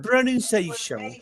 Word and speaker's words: pronunciation: The stress, la mayor fuerza de voz, the stress is always on the syllable before them.